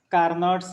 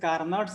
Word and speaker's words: Carnot: okay so this is carnot heat engine so here carnots hit engines it is first point it is an ideal engine invented by sadiq carnot okay pronounce it car not okay not can care